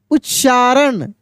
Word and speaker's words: उच्चारण: अभ्यास ठीक है ना उच्चारण उच्चारण उ आधा च फिर पूरा च अकार र और ण ऐसे उच्चारण उच्चारण के बाद उच्चारण